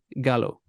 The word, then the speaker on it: Gallo: I'm not pronouncing it right, is it? It's Gal. How'd you say it? Gallo. Gallo. So it is Gallo.